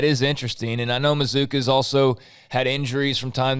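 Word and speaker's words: Mazzccua: to see and uh mizuka is uh is uh the proper pronunciation for anybody who reads m-a-z-z c-c-u-a it's masculine that's mizuka mizuka like bazooka so maybe that'll become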